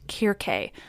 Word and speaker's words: Circe: Now I just want to pause at the mention of her, Circe, to tell you that technically, Circe should be pronounced Kirke, since C's were always hard.